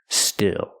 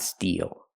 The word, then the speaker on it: still: home with his mother still not steal that's different first let's